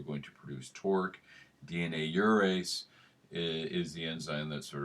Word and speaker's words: gyrase: I think probably the correct pronunciation is urease, like a euro. It's a Greek word.